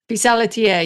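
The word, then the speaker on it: pissaladière: I'm not sure how to pronounce it. It's something like Pisa Ladier. Pisadier.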